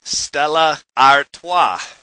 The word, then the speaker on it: Stella Artois: in Manhattan right now, you would say, I'll have a Stella. But with the help of my Belgian passengers, I learned the Belgians say Stella Artois.